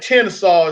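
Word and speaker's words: Tensas: It's like Tensaw. It's like a little town up in North Louisiana. It's spelled nothing like Tensaw, but the only reason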